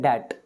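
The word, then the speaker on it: debt: होता है कर्ज इसको इसमें बी साइलेंट होता है इसको पढ़ते हैं डेट तो मैं उसी तरह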